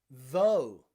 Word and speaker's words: though: Though, even though, or although, okay? Both end in GH again, but it is silent.